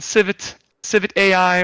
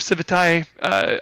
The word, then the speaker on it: Civitai: It's up on Civit AI or Civitai, depending on who you talk to. I speak with the owner of Civitai often.